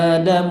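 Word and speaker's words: آدم: Lafaz Adam ini dibacanya berapa harokat? 2. Beneran 2? Coba baca. Wa qulna ya Adam uskun anta wa zawjukal jannah. Wa qulna ya Adam uskun anta wa zawjukal jannah. Ya Adam. 2 harokat.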